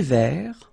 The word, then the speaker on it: vert: Un thé vert. Final T not pronounced. Un thé vert.